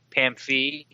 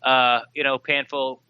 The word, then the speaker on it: Pamphee: So did Kevin Pamphee, which I've learned is his proper name, the proper way to say it. Panfield, we used to think his name was Pamfield, Pamfield.